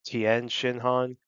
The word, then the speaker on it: Tien Shinhan: or King Piccolo, Chi-Chi, Ten Shinhan, or some people like to pronounce it Tien Shinhan, Piccolo Jr.